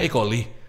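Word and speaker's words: E. coli: Oh itu bacanya ekoli. Eh isersia koli tulisannya e C o L I kan.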